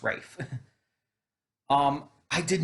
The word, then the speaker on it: Ralph: the other nazi was ralph or ray fines rather it is pronounced rafe um i did not